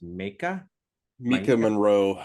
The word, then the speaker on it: Maika Monroe: And lead actress, I think it's pronounced Mika Maika Monroe, she's great.